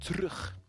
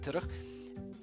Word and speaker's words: terug: Usually people say terug. Most people say terug. You can say terug. You can omit the E from pronunciation. I think you still have to include the E, technically speaking. Even though, you know, it will be a lot easier to say terug.